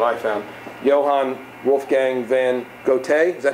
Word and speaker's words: Goethe: Johann Wolfgang van Goethe, is that how to pronounce that, Matt?